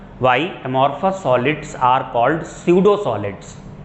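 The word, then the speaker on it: pseudo: का मतलब होता है, ये स्यूडो होता है, यहाँ पी साइलेंट है, स्यूडो वर्ड का मतलब होता है फॉल्स।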